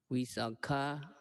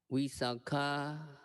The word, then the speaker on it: Visakha: If the person is a woman, the name is pronounced Visakha with a long A. If a person is a man, the name is pronounced Visakha with a short A.